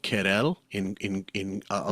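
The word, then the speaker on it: Querelle: It's called Kell in in in I'll spell it qu u E R Q sorry Q U E R E L L E.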